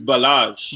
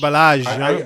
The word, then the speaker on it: Ballage: Nah, he's French. He's French. It's Balage. Balage, like Bellagio.